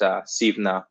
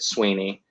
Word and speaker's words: Suibhne: In Gaelic, it's pronounced Suibhne, but, you know, so I get a lot of comments on my videos from angry Irishmen telling me that I'm pronouncing my own name incorrectly. And it was when it was moved over to England, the English couldn't say Irish names very well, so they just said Sweeney, and that pronunciation has stuck.